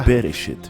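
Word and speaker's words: בראשית: Gênesis deriva de uma palavra hebraica que se pronuncia Bereshit, que significa o início.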